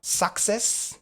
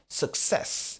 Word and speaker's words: success: Ça ne sera pas success comme certains le disent ou success surtout pas. Donc le stress la l'accent est sur la deuxième syllabe. Ça sera success.